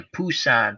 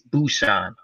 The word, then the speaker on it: Busan: but I enjoyed it the last train to Pusan but they say Busan now I guess they change the pronunciation it's Busan even though it looks like a P and